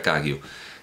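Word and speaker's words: Kagyu: cagiú que no debe no debe despistarnos esa B que aparece en algunas en algunas transliteraciones porque son prefijos que son mudos se pronuncia kaggio en tibetano Bueno pues se adhirió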